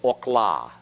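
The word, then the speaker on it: אָכְלָה: similar to the kibbutz so this in this place it's Okhla okhla is the way you pronounce this word the schwa is silent in this case because it closes the syllable and the syllable is unaccented remember in hebrew the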